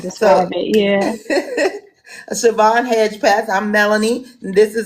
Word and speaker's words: Hedgepeth: It's Hedgepeth. So I I tell said it right. everyone Hedgepeth. hedge like the shrubbery and then path with an E instead of an A.